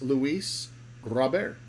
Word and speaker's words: Luis Robert: And if you want to say it right, it's Luis Robert.